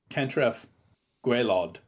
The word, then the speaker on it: Cantref Gwaelod: to help him discover the sunken city of Cantref Gwaelod. Did I pronounce that right?